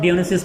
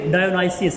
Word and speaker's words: Dionysus: इसकी दो प्रोनाउंसिएशन है, मैं क्लैरिफाई करता चलूँ यहाँ पर। आप इसको ग्रीक लैंग्वेज में पढ़ते हैं तो आप डियोनिसिस पढ़ते हैं, और अगर आप इसको ब्रिटिश इंग्लिश में पढ़ते हैं तो ये डायोनाइसिस है, डायोनाइसिस।